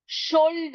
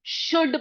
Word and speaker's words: should: जैसे कि हमने ये पढ़ा था, SHOULD को शोल्ड ना पढ़कर हम इसको शुड पढ़ेंगे।